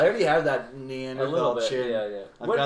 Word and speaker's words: Neanderthal: Neanderthal, as it's actually Neanderthal, correctly short.